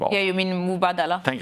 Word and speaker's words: Mubadala: when you when you have some you know madala I don't sorry I should know how to